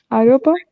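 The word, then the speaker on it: Europa: problem you can but the way you are saying Europe is not correct aopa it's like the oi of boy or okay okay okay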